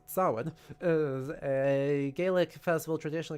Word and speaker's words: Samhain: Sin approximately pronounced sin is a Gaelic festival tradition occurring on the